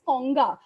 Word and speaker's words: Ganga: uh durga and ganga ganga is pronounced as konga in the khasi language they are for twin